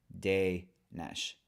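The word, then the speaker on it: Dénes: And then and then in Hungarian, the S's are always shuz. So the last S in my name would be a sh, and then the first E on my name has an accent. And in Hungarian, that makes for like a long A sound. So we put that together, so it's de nesh.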